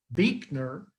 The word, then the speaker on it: Buechner: You might see that in the circle, Frederick Buechner.